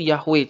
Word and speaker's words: Yahweh: Contohnya adalah JHWH. Bagaimana cara membacanya? Kalau sekarang kita langsung tahu, oh itu Yahweh cara bacanya.